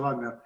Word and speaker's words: Wagner: está perfectamente dicho, Wagner. Wagner, sentido alemán, digamos, la pronunciación alemana.